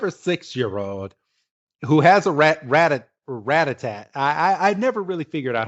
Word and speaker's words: Rattata: I never really figured out how to say this Pokemon's name right, but I believe it's pronounced Rattata. It's Rattata, isn't it? Rattata. Okay, yeah. Because Rattatat, that's like music, Rattatat.